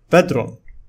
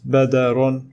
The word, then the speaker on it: بدر: The following word is pronounced as bedron. It is not badarun with fatha, nor it is badirun with kasra, neither it is badurun with dhamma.